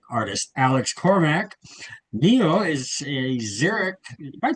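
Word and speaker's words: Xeric: Neo is a Zurich, am I pronouncing that right? A Zurich Zerich Award.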